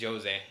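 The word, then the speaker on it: José: got the just mean or actually it's Jose mispronouncing because he's he's Brazilian, not Mexican.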